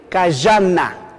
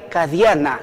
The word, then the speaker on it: kayana: Y pronuncian la L, mire, kayana. Mientras que en Chetilla dirían kadiana.